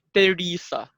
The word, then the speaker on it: Teresa: Yes, ang tamang bigkas daw dyan ay Teresa. Parang Therese, pero A eh.